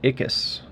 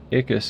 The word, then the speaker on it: Ickes: Harold Ickes. Ickes is how it's pronounced, I think.